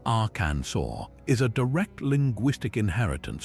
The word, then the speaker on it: Arkansas: The French rendered the name as our cancers, following their own phonetic rules where that final S is silent. So the proper pronunciation Aransur is a direct linguistic